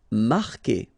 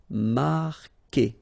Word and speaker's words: marquer: Marquer, okay, Q-U together, it's only the sound K, K. Marquer, don't pronounce the U.